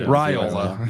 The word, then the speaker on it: Raiola: He's going to learn how to pronounce his name too. Raiola.